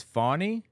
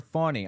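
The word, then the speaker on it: Fani: the public eye falling her name is fonny like a baby deer fonny I'm sorry fonny I didn't realize that I'm going to fix that uh make sure that I say it correctly like comma comma I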